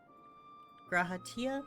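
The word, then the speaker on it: G'raha Tia: introduction is in order say yeah gratia that's how You' say his name yeah I am graaa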